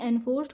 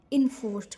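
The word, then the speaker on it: enforced: इन्फोर्स्ड attention, ये एनफोर्स्ड, इसका pronunciation एनफोर्स्ड होगा, बट यहाँ पर हम इसको बोल सकते हैं इन्फोर्स्ड है।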